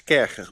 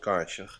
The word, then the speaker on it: Kärcher: It's Kärcher, by the way. It's not Karcher. It's German, Kärcher.